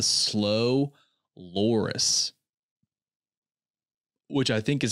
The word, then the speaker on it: slow loris: least intelligent mammal is the slow loris, which I think is how you pronounce it.